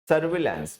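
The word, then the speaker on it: surveillance: SURVEI, VEI होता है, ठीक है, ई साइलेंट है यहाँ पे। सर्विलांस, बाकी सब सही है।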